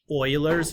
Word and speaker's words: Euler: base or sometimes you refer to this as Euler's number that name e u l e r is pronounced Euler he's a rather well-known I think